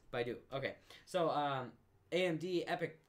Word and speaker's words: Baidu: so China's largest search engine I hope I pronounce this right Baidu yes that's correct Baidu okay so uh AMD epic server processor is